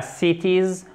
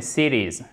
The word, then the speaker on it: cities: Et là, le T, lorsqu'il est coincé, si vous me permettez l'expression entre 2 voyelles, exactement, il se prononce presque comme un de. Ce n'est pas cities en American English, mais cities.